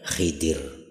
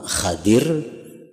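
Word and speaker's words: خضر: Nah, makanya digelar dengan gelar khidir. Jadi membacanya ada dua cara. Yang pertama Khadir. Nabi Khadir atau Nabi Khidir.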